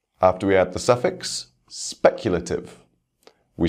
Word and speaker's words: speculative: First, words ending in ative. For these words, we stress the same syllable as the root word.